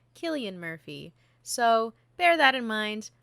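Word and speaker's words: Cillian Murphy: other great films and see television series we pronounced his name as silly and murphy throughout the whole episode and were posthumously informed that it is not pronounced silly and murphy it is pronounced killian murphy so bear that in mind laugh along with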